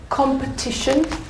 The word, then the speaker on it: competition: And the word competition. Where's the syllable? Where's the strong syllable? Competition. Competition. Very good.